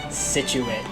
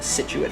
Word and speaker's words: Scituate: number three we got scituate now you're probably wondering where we get that from and honestly i really don't know where we got the scituate from that i guess the c is silent all right you knew